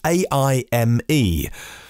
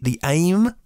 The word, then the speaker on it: AIME: Audi is at the event to showcase their new concept, which is AIME. Do I pronounce it AIME? AIME or AIME? AI, Artificial Intelligence, ME. As in, for me, standing out at a futuristic shape and style.